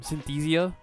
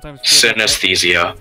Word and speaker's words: synesthesia: of set your mind to forming Synthesia I swear synesthesia thank you I know I butchered I think worse than worse than I see Cajun vs.